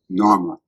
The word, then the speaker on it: Narmer: Now, the fish was pronounced nar and the chisel is pronounced myrr. Na. This is the man who's in the palace. So that's how we know the king is named Narma from fish chisel.